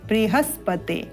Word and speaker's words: बृहस्पति: रिकार वाटिका लगी है इसलिए यहां पर इसका जो उच्चारण होगा वह बृहस्पति इस प्रकार एक ही अल्प ध्वनि युक्त होते हुए करना है आप रिकार वाटिका के